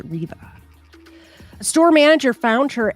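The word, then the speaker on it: Reve: It's spelled R-E-V-E, so I keep wanting to say Revi, but it's pronounced Riva.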